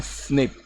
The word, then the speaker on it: SNP: ठीक है, SNP लिखते हैं इन्हें, SNP, और प्रोनाउंस करते हैं स्निप, SNP लिखते हैं और प्रोनाउंस इन्हें करते हैं स्निप।